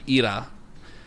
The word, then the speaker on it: Hera: Except in Greek, so in ancient Greek, it's pronounced Hera or Ira, and Hera actually in modern Greek means widow.